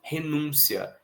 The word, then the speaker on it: renúncia: A sílaba tônica é diferente também nos dois casos.